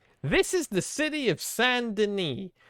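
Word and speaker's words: Saint Denis: us feel stupid this is the city of sandini spell s-a-i-n-t space d-e-n-i-s it is spelled saint dennis it is pronounced sandini i hate it oh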